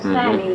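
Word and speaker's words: Stamey: wife, old man Elijah Stemmy. How'd you spell that last name? S-T-A-M-E-Y. Sammy, you might call it. They call him Stemmies there. Stemmies, but it was an A.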